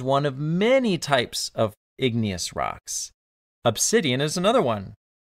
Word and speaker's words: igneous: the episode about Yellowstone igneous sounds like the word ignite it means fire igneous